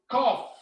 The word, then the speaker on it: cough: it out cold fever so this gh sounds like the letter f so you say cough cool and number nine